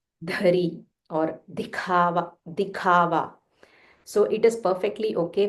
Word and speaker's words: दिखावा: Dikhava. The kha is Mahaprana. So dikhava.